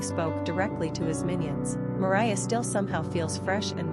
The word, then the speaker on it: Moriah: Pronunciation, Morie.